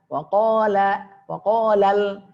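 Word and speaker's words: قَالَ: Wa tipis, qa tebal. Ya, kita beri tanda warna kuning. Wa qa. Ya. Wa qalal lal tipis.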